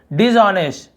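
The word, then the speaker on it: dishonest: फिर इसे हम पढ़ते हैं डिसऑनेस्ट, डिसऑनेस्ट, ठीक है, डिसऑनेस्ट, एच यहाँ पे क्या होता है, साइलेंट होता है, इसे डिसऑनेस्ट नहीं पढ़ेंगे, डिसऑनेस्ट ऐसे पढ़ते हैं, लेकिन हम इसे लिखते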